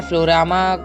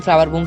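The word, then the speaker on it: Floaroma: तो मैं इस सिटी का जो नाम था वो गलत प्रोनाउंस कर रहा था। इसका नाम है फ्लोरामा सिटी है, इसका नाम फ्लावर बूम सिटी नहीं है।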